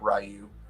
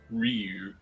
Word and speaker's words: Ryu: rayu as well some people are saying I'm pronouncing it correctly that it's Ryu not rayu no it's not I I will oh Tim people they do call it Ryu how you doing how are you doing tonight